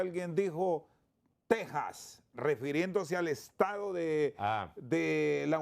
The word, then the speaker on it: Texas: lo el mismo caso, puedes escribirlo con X, pero al pronunciarlo es Texas porque es del español.